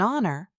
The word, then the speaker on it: honor: An honor because h is silent.